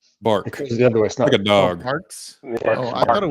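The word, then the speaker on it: Barq's: A&W the other one bargs okay is that what it's called how do you say it it's a hard Q it's like a k bark a dog I thought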